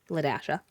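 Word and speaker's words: La-a: But her name was not spelled like L A D A S H A. It was spelled L A literal dash A, but it was pronounced Lasha.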